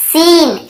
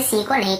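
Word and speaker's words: scene: फिर देखिए seizures, seizures यानी कैंची को सीजर्स कहते हैं, यहाँ पर भी एस साइलेंट है। और देखिए सीन, SEN, सीन ऐसे पढ़ रहे, यहाँ पर भी सी को नहीं पढ़ रहे, स्कीन स्किन नहीं पढ़ रहे, सीन,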